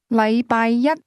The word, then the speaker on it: 禮拜一: The difference is that the word one used with Monday is pronounced with a high level tone, while the word day is pronounced with a low level tone.